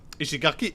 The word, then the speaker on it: Ishigaki: And we're going to be taking a 2-hour flight down to a place called Ishigaki. Or Ishigaki. Ishigaki is how you pronounce it.